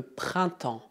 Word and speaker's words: printemps: Atenção à pronúncia. Em francês, I mais N tem o som nasal un e mais M soa como en. Além disso, as duas últimas letras são mudas.